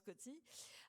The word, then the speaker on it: Coetzee: Parmi les auteurs que vous avez traduits, Coetzee, on dit d'ailleurs, on prononce Coetzee, Steinbeck, Thomas Wolfe, Jane